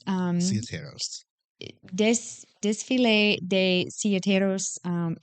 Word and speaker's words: Silleteros: Can you pronounce it? I can't. What? I was waiting. I can't. It's Ciateros. It's Ciateros.